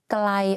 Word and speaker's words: ไกล: For example, the word ไกล or ใกล้ the pronunciation is the same but the intonation are different.